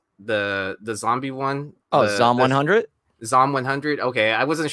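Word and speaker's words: Zom 100: promise let's see and then how do you pronounce that show that we were both talking about the the zombie one oh zomb 100 zomb 100 okay I wasn't sure if it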